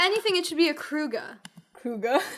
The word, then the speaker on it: Kruge: anything, it should be a Kruga. Kruga. If it has to be 2 syllables, it should be a Kruge. Kruga, not a Kruge.